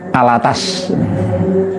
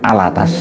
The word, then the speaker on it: Alatas: Kang Mas Muhsin Alatas alattos tulisannya Tapi bacanya Alatas Al atas bukan Al bawah Al atas jadi kitab